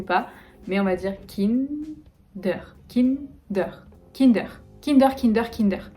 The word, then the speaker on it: Kinder: ikea je vais aller voir à ikea iker kinder länder vous me direz aussi si c'est assez proche de la version que vous connaissez ou pas mais on va dire kim d'heure kim d'heure kinder kinder kinder kinder kinder surprise